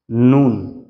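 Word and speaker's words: نون: হরফ 29 টার ভিতরে দুইটা হরফ আছে যে দুইটার উচ্চারণ নাক দিয়ে হয় নাক দিয়ে উচ্চারিত হয় আপনি যদি নাক চেপে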